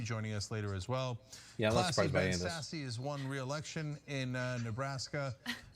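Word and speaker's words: Sasse: us later as well sassy has won re-election in nebraska um of course trump 2020 nor is his last name pronounced sassy nor is he sassy right uh it's ben sass the republican senator from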